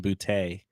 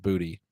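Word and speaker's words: Boutte: been calling him kesan bout or where that came from because it is actually literally pronounced booty so that made me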